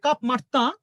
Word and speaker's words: Cap Martin: of Albert Kahn at Cap Martin, French উচ্চারণে কাপ মার্তা, আর French উচ্চারণে এই ভদ্রলোকের নাম হচ্ছে আলবেয়ার কান।